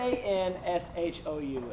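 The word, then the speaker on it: Sanshou: is a sport called Sanshu. Spell it for them. Spell it. S-A-N-S-H-O-U. And it's actually pronounced Sansho.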